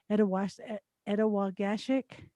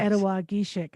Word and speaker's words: Ettawageshik: Ettawageshik. I said it wrong. Ettawageshik. Yes. Ettawageshik.